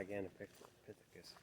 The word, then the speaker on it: Gigantopithecus: well, some people think they could be Gigantopithecus. Is that how you pronounce it? Yeah, Gigantopithecus, yeah.